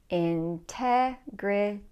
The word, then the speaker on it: integrity: the stress is integrity so the stress is on the second syllable Integrity Integrity then look at the n and T where do those letters come they come before the stressed syllable Integrity for that reason we cannot drop the T here now okay if the